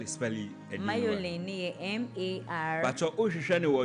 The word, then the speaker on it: Marjolein: Spell it. Mayolin, MAR.